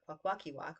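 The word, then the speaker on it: Kwakwaka'wakw: Um, and it's not even pronounced that way. It's Kwaguth. And we're not even Kwaguth. We're Kwakwakiwak, but Liquido peoples, which is southern from Kwaguth.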